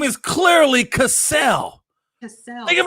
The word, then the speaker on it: Cassell: Think of it like cassette tape. Can you say cassette? Because it's the same way. Cassette and Cassell. It's Sam Cassell. Cassette has two. You know this, Elizabeth. You're a Houston fan. It's spelled okay. The double TE is what makes it make the et noise.